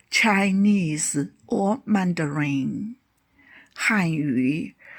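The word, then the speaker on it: 汉语: Han yu, Chinese or Mandarin. Han yu.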